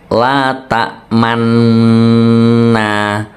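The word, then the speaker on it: لَا تَأْمَنَّا: sebagai isyarat bunyi dumah cara membacanya perhatikan baik-baik la ta Manna la ta Manna Manna jadi seperti manuna tapi ditahan Man cucu saja sebentar seperti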